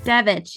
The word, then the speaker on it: Devich: Devich, yes.